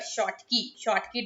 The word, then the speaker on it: Schottky: That is how we pronounce this word, Schottky defect.